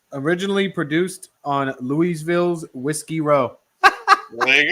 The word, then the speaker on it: Louisville: to know what Smurf doesn't know how to pronounce it. Okay. Is it Louisville? Yes, it's Louisville.